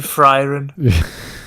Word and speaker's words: Frieren: I was just about to say, it sounds amazing if you say Frieren. I'm watching It's Frieren. like the opposite. She's not frying anyone.